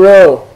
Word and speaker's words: rho: P and rho. Rho looks like a P, but it's a R sound.